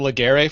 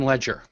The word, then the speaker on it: Legere: So yesterday, one of my favorite CEOs, I don't know how to pronounce his name, is it John Legere from T-Mobile? It's actually John Ledger.